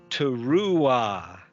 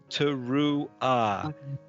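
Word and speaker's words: תרועה: It's not ha on the end, it's ah. So teruah. So not ha, but ah. Okay. So this is ha, but this is ruah. There's no h there. It's at the h is after the vowel, so you don't hear it.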